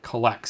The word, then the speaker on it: COLLX: It's COLLX, and I couldn't, in my weird brain, figure out that meant Collects.